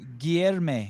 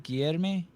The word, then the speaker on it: Guilherme: Guilherme? Yeah, almost there. Tell me. 8%. Wait, let me try. Guilherme. How's that? Guilherme. Guilherme. There's the L. You Yeah. say the L. Yeah. And the Guilherme.